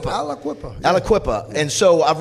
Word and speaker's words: Aliquippa: Now you pronounce the name is Aliquippa. Is it? How do you pronounce that? Is your hometown? You said Aliquippa. Aliquippa.